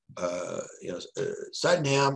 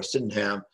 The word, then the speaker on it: Sydenham: Sydenham or Sydenham, depends on who's pronouncing it.